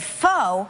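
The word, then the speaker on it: pho: it on the show i said foe and everybody was like what apparently it's right but it is it's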